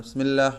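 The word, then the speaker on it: بسم الله: അവസാനം നമ്മൾ നിർത്തി നിർത്തുന്നതായ അക്ഷരവും അവ്യക്തമായി പോകാറുണ്ട് അതിന്റെ ഉച്ചാരണം തന്നെ കൂട്ടത്തിൽ പെട്ടതാണ് ബിസ്മില്ലാഹ് ബിസ്മില്ലാഹ് എന്ന് പറയുമ്പോൾ കണ്ടോ ബിസ്മില്ലാഹി റഹ്മാനി റഹീം ബി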